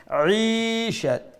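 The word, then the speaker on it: عيشة: after the ain, so the kasra, the zir underneath the ain would be stretched to one alif lang, madda asli tab'i, and we will pronounce it as Aisha.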